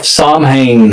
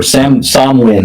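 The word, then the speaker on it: Samhain: the the day of Sam Hayne and whatever or Sam sin however you want to pronounce.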